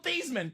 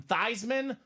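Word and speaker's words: Theismann: staff said Hey Joe let's change your last name from thyman or excuse me from thian to thyman so we can say thyman for the Heisman Joe's a sellout Robbie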